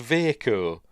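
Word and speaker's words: Vaako: It's spelt V-A-A-K-O. And apparently David Toohey, when he made up that name, with two A's in it, thought it was pronounced Vaco.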